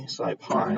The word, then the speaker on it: SciPy: SciPy, like Python.